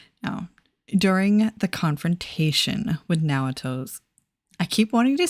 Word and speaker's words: Naoto: Naruto. Naoto. It's kind of a hard name for Western folks to say. You know, like our mouths, our language doesn't have two vowels that you pronounce separately like that in a lot of